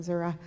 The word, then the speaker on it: Missouri: That's how they pronounce it. They're from Zura.